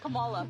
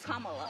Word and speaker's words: Kamala: to say her name earlier you said Kamala way she pronounces her name is Kamala you don't work with